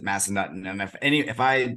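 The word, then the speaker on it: Massanutten: uh we've got Massa it's it's Massa Newton or Massa nutton I've heard both but I think everyone pronounces it Massa nutton and if any if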